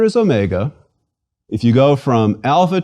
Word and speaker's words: Omega: repeat sigh and finally Omega Omega is big o mega o as opposed to micro or Omicron mega o is long like the O in open please repeat Omega o